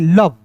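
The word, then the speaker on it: love: एक ही बार में बोलेंगे कम, एल ओ वी ई, लव, लोभ नहीं। एल का ल, वी का दोस्तों व, लव, लोभ नहीं, क्या पढ़ेंगे दोस्तों? लव पढ़ेंगे।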